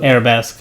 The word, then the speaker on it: Arabesque: on reflection and speed and arabisk I definitely don't know if I'm saying that right but uh I mean it's it's spelled arabesque so arabesque I'm going to say yeah that's probably better um that is the